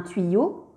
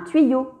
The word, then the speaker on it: tuyau: Si l'on prend le mot un tuyau, on voit bien que la lettre Y est placée entre deux voyelles, le U et le A. Donc Y va se prononcer double I.